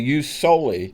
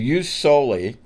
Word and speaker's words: jus soli: But we understand that it's pronounced in English to us like a J.